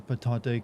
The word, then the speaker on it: Patante: VA pronounces Patante correctly in French.